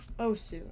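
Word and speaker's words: osu: i don't know how to pronounce it it's o s u o su a su i've become extremely aware of how i pronounce things on stream because it will be immortalized forever oh sue okay thank you i will forget because you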